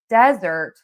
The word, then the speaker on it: desert: This is really about word stress. So, we have dessert, and we are going to stress syllable number two because we eat dessert at the end of a meal. And then we have desert, and that is sand, and that has one syllable, and so that is going to be stressed on syllable number one.